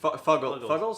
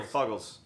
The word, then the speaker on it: Fuggle: English Fogus, the Russian Fuggles. Sorry, Fuggles. If it's fungus, we don't know how to pronounce it. So It's Fuggle. for us, it's No, Fuggles. it is Fuggle.